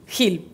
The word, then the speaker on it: Gil: el salvador gil buenas hill normal se pronuncia exactamente como uno lo lee el director de ingeniería